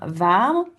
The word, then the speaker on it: warm: Donc varm, vous voyez, c'est la même chose qu'en anglais mais la prononciation est différente. Warm, varm, hein.